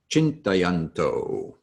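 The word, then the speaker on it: चिन्तयन्तो: Forgot to mention that a C in transliterated Sanskrit is always pronounced as a CH sound. So hence, chintayanto.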